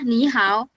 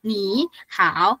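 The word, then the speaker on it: 你好: tiganya ketemu kayak gini, ingat pokoknya yang pertama nadanya jadi nada dua. Tulisannya tetap sama. Tulisannya tetap sama. Ee dia kayak aturan enggak tertulis gitulah ya bahasanya. Dibacanya ni, how, bukan ni, how.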